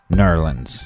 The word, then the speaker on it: New Orleans: have Alex and Colin or how it's properly pronounced nerlands and we have it